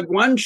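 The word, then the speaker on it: guanxi: properly uh is it GUI how do you pronounce that and could you explain what that is please yeah GUI is probably maybe the most commonly used word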